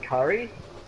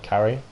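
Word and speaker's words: Kari: disappeared by the way it's spelled k a r i in case I'm um not pronouncing it properly so it's carry with a K not a c well it's just I feel like I'm I feel like people might be thinking I'm saying Curry it's it's it's no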